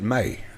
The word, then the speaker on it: Mai: I know your name's spelled funny, M-A-I, but they pronounce it May.